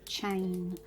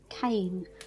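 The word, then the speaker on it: cēn: the country you lived you may pronounce that as chain with a soft c and in other parts you'd have pronounced it cane with a harder c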